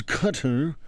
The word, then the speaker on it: Qatar: It's cutter. It's pronounced Qatar.